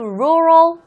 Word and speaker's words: rural: you are 이렇게 됐을까 rural 할 때 루에서 R 넘어갈 때 혀가 절대로 입천장이 다오면 안 돼요 왜 잖아요 L 아니고 리기 때문에 여기 발음 같이 한번